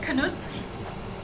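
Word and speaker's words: Knuth: busy effectively okay so that's Donald canut and that is how you pronounce it name you can look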